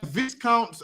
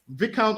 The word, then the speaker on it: viscount: had L's they had Vis counts I think it's called Vis how you pronounce it it's not a Viscount it's pronounced vicount or something they had Barons